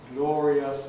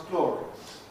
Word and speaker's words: glorious: Glorious becomes glorious.